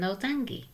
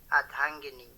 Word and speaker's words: Ardhangini: I have to ask, what is an Ardangi? Okay, first of all, it's pronounced Adhangini.